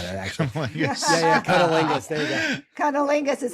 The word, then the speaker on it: cunnilingus: Cunnilingus.